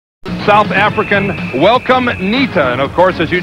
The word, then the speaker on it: Ncita: South African welcome Ncita. And of course, as you just saw, his 12 rounds for the IBF junior featherweight title from ITA, but it is pronounced Ncita.